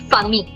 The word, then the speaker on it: famille: So last letter is silent, double L is silent, only famille.